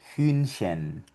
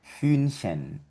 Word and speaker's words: Hühnchen: Y aquí vemos H con la U umlaut y esto se pronuncia Hühnchen. Hühnchen.